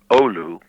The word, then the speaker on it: Oulu: I remember the first time we went there, we went to Oulu, which I think I'm pronouncing correctly. Yep, you did.